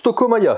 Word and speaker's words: Tokaya: cher mon cher ami tokoa alors ça se prononce tokaya s'il te plaît respecte respecte les gens